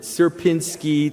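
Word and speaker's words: Sierpiński: Um uh so this is something called the Suberski uh s how did he pronounce it? Serpinski triangle.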